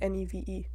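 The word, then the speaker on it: Niamh: ] favorite Irish name I like what's it Neve but it's like n-i-m-h that's how you pronounce it yeah I thought you meant like Neve Campbell like n-e-v-e who has the same birthday as me fun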